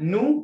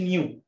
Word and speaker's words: new: اصدقاء جدد قلنا نو مش نيو، ما نقولش نيو، نيو فريندز، ودي طبعا في الامريكان اكسنت بقول فريندز.